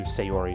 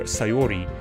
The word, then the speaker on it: Sayori: committed I know it's I know it's pronounced soft you'll be um to the hiragana but my voice kind of being more anglicized right it kind of uh flaps it to sayori so apologize for not